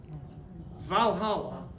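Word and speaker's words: Walhalla: So this was pronounced Valhalla by the Germans and it was spelled with a W.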